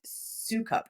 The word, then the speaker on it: Soukup: Life You Love by Ruth Soukup, I think is how you say her name, Soukup.